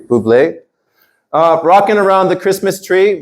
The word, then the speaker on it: Bublé: Michael Bublé, that's how you say his name, Bublé.